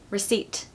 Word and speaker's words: receipt: with this list okay number one receipt silent P okay you just have to know this I'm sorry to say there's no rule with this it's just the way it is and I've actually done this